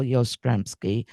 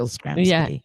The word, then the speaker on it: Yastrzemski: His favorite player was Carl Yastrzemski. I hope I said that right. I never could get Yep.